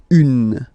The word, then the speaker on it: une: Then the feminine article is here, and it's easier because if you have this une, then you pronounce it une.